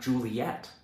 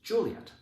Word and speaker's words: Juliet: You know, this rhythm is one of the reasons why we know her name is not Juliet, right? It's Juliet.